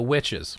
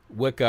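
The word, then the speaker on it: wicce: So witches, right? From Old English, this is what I was talking about here. Witche. This is witche. It's not pronounced Wicca or Wicca. It's witche.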